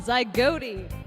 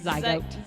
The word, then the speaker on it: zygote: But zygote, it rhymes with goat.